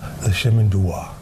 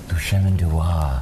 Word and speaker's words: Le Chemin du Roi: I need a pronunciation lesson, so it's Le Chemin du Roi? Le Chemin du Roi. Le Chemin du Roi. Yeah, like if you could say Ménage à Trois, you can say Le Chemin du Roi.